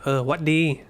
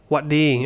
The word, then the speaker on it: หวัดดี: You can say หวัดดี so no sa, just straight into the หวัดดี and you'd spell it by changing the ซอเสือ into a หอหีบ you see that?